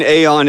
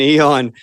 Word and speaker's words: aeon: It's both aeon as in the Gnostic entity, and it's eon as in period of time.